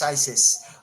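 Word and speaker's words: phthisis: um symptom it's called fisis I don't know how to pronounce it but you pronounce it well P phth sis Isis fisis um that's what it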